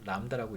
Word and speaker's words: 람다: 람다라고 읽어요.